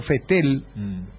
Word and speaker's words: Vettel: los correctores es sebastian vettel no se te el hermano sebastian vettel en alemán porque los alemanes por ejemplo no dicen volkswagen volkswagen dicen ellos pronunciación alemana no tuve hermano querido neerlandés